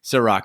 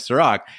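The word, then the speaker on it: Cîroc: so we will now pledge to say Ciroc now here's where it gets really interesting is that big Podesta also wrote in after the deep dive where we changed the pronunciation of Sirach and suddenly it's all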